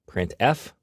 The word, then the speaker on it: printf: are the most popular they are pronounced printf putcar and puts each function is designed